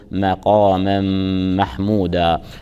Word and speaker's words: مقاما محمودا: التفخيم مقاما محموده ايضا يراعه ترقيق الميم ونون التنوين في مقاما جاءت متبوعه بحرف ميم متحرك تدغم نون التنوين اللفظيه الساكنه بحرف الميم وتلفظ الميم مشدده مع مراعاه الغنه غنه من المرتبه الاولى غنه اكمل ما تكون فنقول مقاما محمودا نتلوها بهذه الطريقه اعوذ